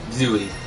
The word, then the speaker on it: Zooey: Or Zooey. Low wave. Yeah, it should be pronounced Zoe, but here we are.